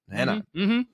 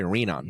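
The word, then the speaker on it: Renan: Brazilian yeah you're Portuguese oh it is henan henan I was gonna say reenan but henan FAA and man oh man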